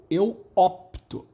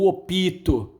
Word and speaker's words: opto: exemplo o verbo optar a pronúncia correta eu opto eu boto opte muita gente eu opito eu opito né o pitel óbito óbito